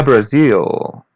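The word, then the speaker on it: Brasil: It literally means I am from the Brazil. Here I would say Brazil. Listen and repeat. Brazil. Brazil. It almost has the same pronunciation, but we pronounce the letter L as W bar.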